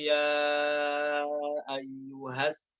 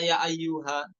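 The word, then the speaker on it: يا أيه: Nomor 71, wa qalu ya ayyuhas sahir. Bagaimana kokoh pada kata ya ayyuha? Apakah dibaca ya ayyuha? Enggak. Namun dibaca sukun. Ya ayyuh.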